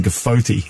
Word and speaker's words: GFOTY: You pronounced that Gofty today. Yeah, I'm probably I like that. I like that. It's better than Gofoti.